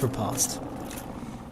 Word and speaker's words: riposte: Parrying and then riposting, which is spelt riposte, but it's riposte.